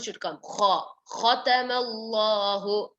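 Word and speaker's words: خَتَمَ اللَّهُ: Khatamallahu. Khatamallahu. Kha comes from the throat.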